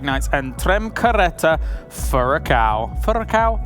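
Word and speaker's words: Furacão: Furacao? Do I have to roll the R at the end? You said it right. Nope. That's you beautiful. said it perfect.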